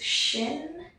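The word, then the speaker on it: ש: what this letter is this is shin it makes a sh sound it can also be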